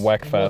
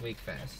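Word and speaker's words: Wekfest: I believe it's German or something, and that's where it's got a weird pronunciation.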